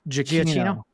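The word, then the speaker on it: Giacchino: Oh yeah, the Michael um Michael Jakino. Gio. Yeah, I think I've been saying it wrong because the guy that introduced him said Jakino. I've been pronouncing it Gino.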